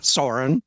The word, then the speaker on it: Soren: Well, you pronounced the Americanized version correctly, which is also in my passport. It's Soren. Okay.